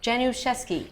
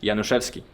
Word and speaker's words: Januszewski: So Januszewski. Januszewski. Janu, I'm never going to pronounce that right.